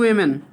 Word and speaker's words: women: तो वन डे, एक दिन, टू वीमेन WEMEN वीमेन, ठीक है ना, WOMEN। वोमेन जैसे लिखा जाता है, इसका उच्चारण जो है वीमेन होता है।